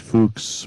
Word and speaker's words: Fuchs: I generally pronounce it Fuchs, but I hear everything.